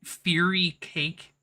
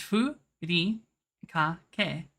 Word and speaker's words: furikake: You realize the way it's supposed to be pronounced in Japanese and the way that fucking like gormless Americans would pronounce it is different, right? Like, what would you say? Fury cake? Fury kake? But in Japanese, it's furi kake. Like, using their own fucking vowel system. It can only be said one way because their fucking vowel system is very strict in how it's like pronounced.